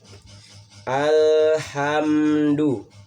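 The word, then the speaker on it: الحمد: Alhamdu, alif lam komariah, karena alnya itu dibaca dengan jelas, tidak ada tasdid sekalipun ya.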